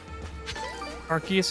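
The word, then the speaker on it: Arceus: Archus is the official intended pronunciation.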